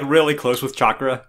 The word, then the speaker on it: chakra: about the basics uh naruto mispronounces chakra he calls it chatura which kona haru imagines